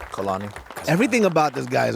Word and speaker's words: Kalani: man how do you say your last name colani everything about this guy is a real man